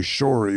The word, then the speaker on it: Shorey: I think the name is actually Shorey, but it's spelled S-H-A-R-E-Y instead of S-H-O-R-E-Y.